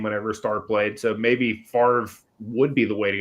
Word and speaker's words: Favre: I spelled it Favre. It's Favre. Favre. You spell it like fava beans.